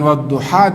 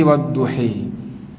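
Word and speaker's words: والضحى: Akhirnya bukan wadduha tapi wadduhi.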